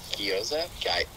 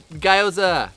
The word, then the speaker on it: gyoza: that word again uh gyoza no i'm not gonna play this game i hate you okay so i said guyoza the wrong way for a long time and